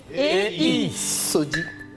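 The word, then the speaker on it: Sodjei: Alors, Sodi s'écrit S-O-D-J-E-I. Sodi.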